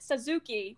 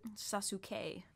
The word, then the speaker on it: Sasuke: So, and originally I pronounced it Suzuki because I didn't know the actual pronunciation. Sasuke. Sasuke.